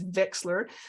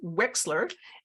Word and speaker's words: Wechsler: to pronounce it, because in my head it's Wechsler, but it's pronounced Wechsler.